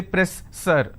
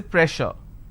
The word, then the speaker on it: pressure: For example, if I have a word which is pressure, just because I have two S, I can't say press sir, I can't say press sir. So here double S will become sh sound. So I say pressure.